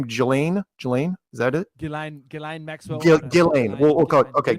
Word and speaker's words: Ghislaine: You don't need him and how you pronounce her name? Ghislaine?